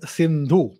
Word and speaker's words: Sindhu: pronunciations were different so instead of sir they would say ha right so instead of sindha they would say hindu and the greeks and